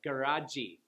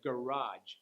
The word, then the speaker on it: garage: garage, I hear a lot of Koreans add the E vowel sound at the end, like garaji or badgy, instead of garage and badge.